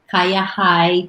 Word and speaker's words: Kayahai: On Instagram, for Kaya High 2014. Everything is Kaya. KAYAHAI, which is the last syllable for Bahay, which is house.